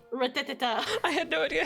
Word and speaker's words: Rattata: When I was younger, I used to say ratatata. Rattata.